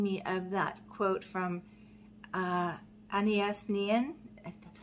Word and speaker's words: Anaïs Nin: And it's reminding me of that quote from Anaïs Nin.